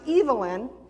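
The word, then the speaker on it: Evelyn: many other things here sir evilyn that's how they pronounce it evil evil in direct child had a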